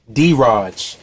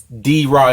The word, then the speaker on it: D-Raj: It's your boy D-Raj. For all you guys who's new or don't know how to say it, it's D-Raj. I know it looks like Draj, but it's D-Raj. You know, short for my